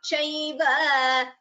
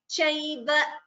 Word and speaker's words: chaiva: It is not chaiva, it is chaiva.